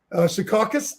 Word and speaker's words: Secaucus: Secaucus, did I say that wrong? No, that's right.